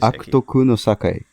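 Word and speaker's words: 悪徳の栄え: How do you pronounce this in Japanese? Akutoku no Sakai.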